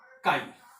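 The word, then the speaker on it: χ: Mole fraction, it is represented at and it is pronounced as chi।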